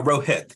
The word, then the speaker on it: Rohit: happened um it's just one of those days Rohit Stones how are you is that is that pronunciation okay uh Rohit but it's close enough I appreciate it Dr